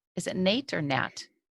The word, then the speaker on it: Nat: Is it Nate or Nat? I think it's Nat, but um you would know like N A T like how do you pronounce it? Um Nat like a bat.